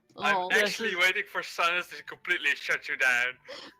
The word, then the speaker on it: Cynis: you're gonna have to remind me how to pronounce his name again. Cynis. Cynis, yeah. Cynis.